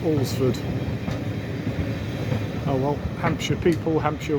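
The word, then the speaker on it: Alresford: Apparently it's spelled but it's pronounced Olsford.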